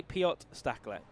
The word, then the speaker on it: Piotr Staklek: told me wrong, but he just said to me, say Piotr Staklek. He said that's close enough for an English person.